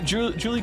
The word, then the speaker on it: Juli: Since we're in the mood for correcting pronunciations, let me drop the fact that both of you are pronouncing Julie wrong. It's Spanish. It's Juli, like Juli.